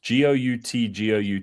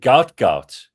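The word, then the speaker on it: Gout Gout: Oh, is it Gout? Well, that's how English works, yeah. G-O-U-T. I think he would pronounce it Goot, and I don't call you Bean.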